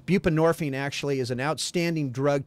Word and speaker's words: buprenorphine: Help me pronounce these, okay? Methadone. What's the other one? Buprenorphine.